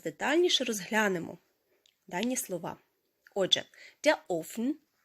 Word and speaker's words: Ofen: Отже, офн у множині перше значення це є піч грубка або ж електрична пічen.